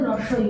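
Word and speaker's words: হ্রস্ব ই: এটার সঠিক উচ্চারণ হচ্ছে রস্ব ই।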